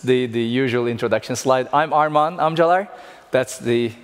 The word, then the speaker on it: Armagan Amcalar: I'm Armagan Amcalar. That's the correct pronunciation of my name.